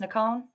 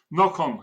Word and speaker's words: Nocon: Well, welcome, Hillshire Media author Nocon, or is that how it's pronounced, Nocon? Nocon, yes, Nocon.